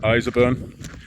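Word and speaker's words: Ireshopeburn: It's pronounced Iserburn.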